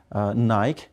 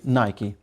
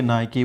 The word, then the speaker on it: Nike: of sport things but the word is wrongly mispronounced that is nike it should be nike so we say nike we don't say nike and what about adidas like nike you're right